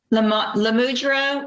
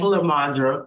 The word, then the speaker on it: Lamadra: Lamudra Walker. I know I said that wrong. I'm sorry. Good morning, ma'am. How do you say your first name? Lamadra.